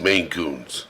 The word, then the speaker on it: Maine Coon: Maine oh not Maine it's Maine Coons okay yeah they're pretty